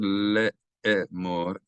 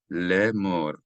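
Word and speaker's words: לֵאמֹר: So instead of le'emor, if I said le'emor, that's two syllables, le'e, and that would require a vowel here, but there is none. So it's read lemor, as if the Aleph is not there.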